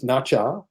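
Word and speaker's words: Nezha: of them is nacho n-e-z-h-a which i pronounces nacha uh which is on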